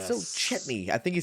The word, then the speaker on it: Chetney: Laudna says because they discussed that maybe Chetney, not Chutney, he had I the love how I love